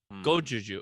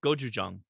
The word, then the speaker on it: Gochujang: There's a place called I'm not gonna pronounce this right. Daka beer, 6.6 ABV. It's a kimchi sour with gochujang and ginger. Gojuju. Okay. Gochujang.